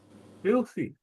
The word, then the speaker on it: filthy: Filthy. First or second syllable? Second. Filthy. No, it's the first syllable.